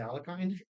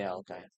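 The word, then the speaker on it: Alekhine: Oh, it's not an election, and I think it's called the Alakine. in the US we say Alkine, but it is technically pronounced that.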